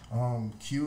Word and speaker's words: Queue: Q is the way you spell Q like that. It's that Q-U-E-U-E.